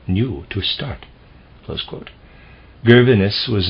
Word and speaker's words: Gervinus: Gervinus was his name. I'm going to spell it that way.